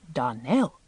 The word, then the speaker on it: Donnell: Now, Miss Shirley, the correct pronunciation of our name is Darnell. Accent on the last syllable.